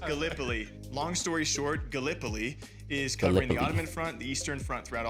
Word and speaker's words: Gallipoli: right because being from Iowa, I said uh Galipoli and it's it is pronounced Galipol. Long story short, Gallipoli is covering the Ottoman front, the Eastern Front throughout all of this.